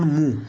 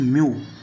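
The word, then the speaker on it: mu: This letter called as, this is नॉट मू, this is म्यू, this is pronounced as म्यू। Okay, pronunciation is म्यू।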